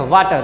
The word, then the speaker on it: water: Similarly देखिए WATER, है ना, आर से पहले क्या है, वाउल लेटर है, ई है, तो आर को रखेंगे साइलेंट, इसको क्या पढ़ेंगे, वाटर। क्या, वाटर।